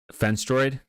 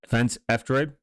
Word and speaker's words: F-Droid: That's not how you pronounce fence droid. Yeah. That's how you pronounce it. Fence F droid.